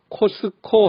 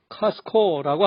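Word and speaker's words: Costco: 소리 하나도 안 들립니다 한국에서는 코스트코 하지만 미국에서 카스코라고 합니다 트솔이 티설이 하나도 안들립니다 첫째 자음 뒤에 오는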